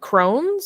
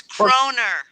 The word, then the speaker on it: kroner: Is it krones? It's kroner. Oh, okay, with an R at the end.